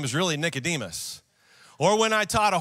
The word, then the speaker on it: Nicodemus: i taught a message about a guy named nicotis for those of you that don't know he's in john chapter 3 and his name is really nicodemus or when i taught a whole message one